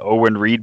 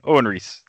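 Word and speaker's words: Owen Reece: he does not even paying attention to the Owen Reid bystander just for the +1 ability set his name wrong like five times sewn Reese yeah yeah yeah molecule man Owen Reese yeah it's it's Reed Richards and Owen read/write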